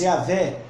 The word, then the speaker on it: Yahweh: Além disso, Deus disse a Moshe: diga isto ao povo de Israel: Yud, Rei, Vav, Rei, ou Yahweh, ou que nós pronunciamos Yahvé, ou Yahweh, que quer dizer Senhor no hebraico, né?